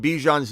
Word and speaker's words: Bijan: And just because you've said Bijan's name wrong for so long, can you say his name?